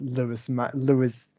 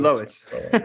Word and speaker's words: Lois: play as well as Lewis Maxwell in those scenes, but Lewis, that's my Maxwell. opinion. You mean Lois? Lois, yeah, I never know how to pronounce that name.